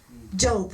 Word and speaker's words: Job: What's the pronunciation? Hiob. I just know the German pronunciation. Job. Right. Job. Job was a man Je and he lost everything.